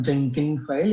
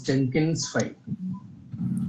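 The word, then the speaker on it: Jenkinsfile: wait wait wait wait it's it's not Jenkin file it's Jenkins file you need to pronounce the right tool name at least okay sir Yes, go ahead.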